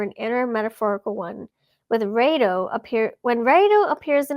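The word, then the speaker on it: Raidho: go sorry excuse me Rao that's how you say it Rao R the wheel travel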